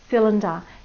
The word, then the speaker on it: cylinder: Do you know what it's actually saying in the word cylinder? It's saying I.